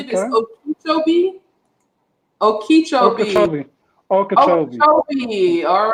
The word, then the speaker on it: Okeechobee: Okeechobee.